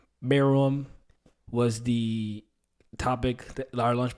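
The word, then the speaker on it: Meruem: opinion in all anime maram I think I pronounced it wrong last week so yeah I did I pronounced it a little wrong pronounce it now but me room was the topic our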